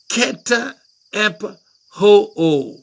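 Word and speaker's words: καταπαύω: ket hep ho ho K-A-T-A-P-A-U-O na kena pronunciation oya keta ep ho ho ka kena imbale ngo cause to cease or bring to rest.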